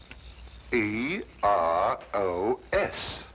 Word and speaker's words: Eros: influence of cockney's stagehands she added an H where there shouldn't have been one what then spell it as she spelled it but without the H e r o s precisely and here he